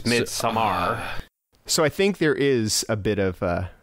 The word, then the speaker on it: Midsommar: calling it Midsummer but I have heard other people call it midar um and I think that's how you say it yeah no cuz it's not spelled summer It's s m m a r it's like all Nordic and stuff so it's midar so I think there